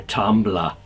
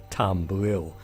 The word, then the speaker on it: Tumbril: vehicle and it's the cyclone manufact capured by tumbler well actually the name should be pronounced tumbril I was thinking of the old style tumble